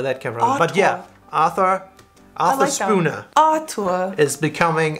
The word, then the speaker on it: Arthur: have on this list Arthur oh that's good one ah - uh I - uh yeah the th goes away and the Ottawa wasn't